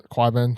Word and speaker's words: Qyburn: Qyburn, thank you. I was about to say, how do you pronounce it?